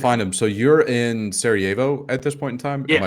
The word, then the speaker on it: Sarajevo: So you're in Sarajevo at this point in time. Am Yeah. I pronouncing that correctly?